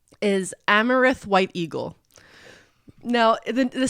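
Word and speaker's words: Amerith: americ a marath but he says it's pronounced amaranth like the the grain so amareth White Eagle okay okay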